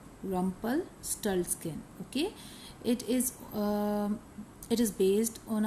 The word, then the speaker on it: Rumpelstiltskin: Rumpelstiltskin. Rumpelstiltskin.